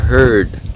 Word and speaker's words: heard: là mặc dù là khi mà đọc riêng rẽ, phát âm riêng rẽ thì hurt và heard khác nhau về độ dài của nguyên âm.